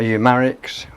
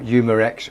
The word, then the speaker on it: Umarex: turned up this is a umarix or Umarex whichever way you want to pronounce it I prefer numerix it's